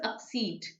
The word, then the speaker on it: accede: In fact, this is exceed and this is pronounced as accede. Accede.